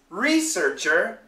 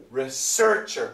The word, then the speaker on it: research: And also, the most important thing is the intonation. And here is where students have a problem. They know the different pronunciations, but the intonation. So, researcher, researcher. That's the intonation. Research, research. That's the intonation, okay?